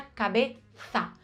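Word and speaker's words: cabeza: Em Sevilha, eles também falam exatamente igual, mesmo que a pronúncia correta da Z seja cabeça, com essa língua entre os dentes.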